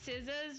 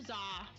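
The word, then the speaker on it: SZA: I actually just realized that Siza's pronunciation is Siza. I've been calling her Zah like this whole time.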